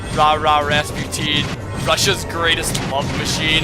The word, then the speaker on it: Rasputin: It's pronounced Rasputin normally, but the disco song, in the song they pronounce it Rasputin.